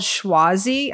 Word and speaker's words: Chwazi: I found this app it's called schwasi I hope I'm saying it right it's c-h-w-a-z-i and if you look